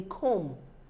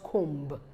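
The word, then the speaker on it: comb: it look neat is they come not come the bee is silent lamb the lamb that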